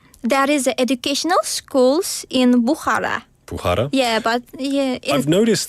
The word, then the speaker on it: Bukhara: is educational schools in Bukhara. Bukhara? Yeah, but I've noticed that, yeah. I guess, in Uzbekistan, if there's a KH, like in your name, you don't pronounce the K. It's almost like a H.